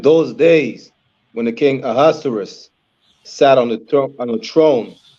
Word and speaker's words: Ahasuerus: Let me pronounce his name. Ahasuerus.